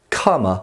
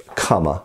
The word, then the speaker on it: qama: version of these are usually known as kama or kwama it's a spelt with a q usually can sometimes be spelt in other areas with a k obviously when we're rendering